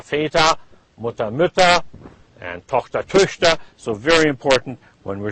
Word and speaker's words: Töchter: This is like an E. You're pronouncing an E, but again with pursed lips. So if you're going to try to pronounce Töchter, pretend you're saying Töchter, and you say Töchter.